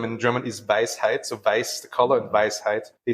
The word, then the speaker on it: Weiß: So, of course, Weiß, as it's pronounced in German, it means white. The word for wisdom in German is Weisheit. So Weiß, the color, and Weisheit, they sound alike too.